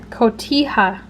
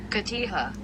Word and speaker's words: Cotija: Cotija. Cotija.